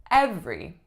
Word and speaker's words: every: this so number one is the word every every now if we were to look at it syllable by syllable it looks like it should